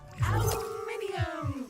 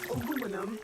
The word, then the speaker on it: aluminium: Aluminium or aluminum as Americans pronounce it incorrectly.